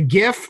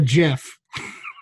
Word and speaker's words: GIF: video known as a gif or a jiff I was there a hard G sound in there that I heard okay just like the word graphic like the first word and gift that's right okay that's right